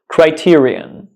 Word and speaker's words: criterion: this word correctly all right this word is pronounced Criterion Criterion Criterion so the correct pronunciation is Criterion